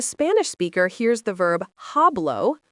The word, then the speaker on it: hablo: When a Spanish speaker hears the verb hablo, pronounced ablau, they immediately know it means I speak.